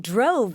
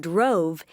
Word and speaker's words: drove: long o o sound instead the long o sound in drove is spelled with an o in the middle of the word and an e at the end the e at the end of drove doesn't make any sound of its own it just tells